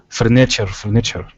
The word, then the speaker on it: furniture: furniture, not nature. Oh, furniture. Furniture. Mm, So the stress mm, is on the first syllable there.